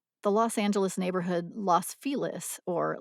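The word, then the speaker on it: Los Feliz: the Los Angeles neighborhood Los felis or Los felis comes to mind while the early settlers to the neighborhood spoke Spanish most La locals Now Pronounce loss with a short o and felis as rhyming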